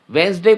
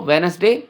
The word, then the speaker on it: Wednesday: क्या करते हैं कि वेंसडे को वेनसडे बोलते हैं। वेनसडे बोलना पूरी तरह से गलत है। ठीक है, प्रोनाउंसिएशन के हिसाब से आपको वेन अस डे बोलना है। जब आप वेन अस डे बोलना सीख जाएंगे तब फिर आप पूरी तरह से बोल भी पाएंगे वेंसडे, वेंसडे।